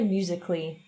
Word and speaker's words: musically: Invece dobbiamo dire musically, quindi la L deve essere un po' più avanti.